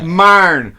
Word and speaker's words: Myron: I always would say Myron. It's one syllable word, like iron, Myron.